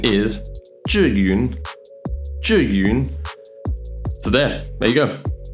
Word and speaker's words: Zhiyun: Zayun. Zayun. Zhiyun. Zhiyun. Jiyun. Jayun. Zhiyun. Jiwin.